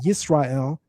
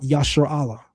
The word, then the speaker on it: Israel: There's no Maserites in 1205 BC and the Egyptians are pronouncing it Israel, not Yasher Allah.